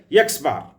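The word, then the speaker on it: x̄: is the x bar and that is pronounces pronounced as x bar for a number of observations is calculated by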